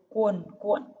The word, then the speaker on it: cuồn cuộn: Từ thứ hai là từ cuồn cuộn. Các em cũng phát âm đúng vần uôn. Cuồn cuộn.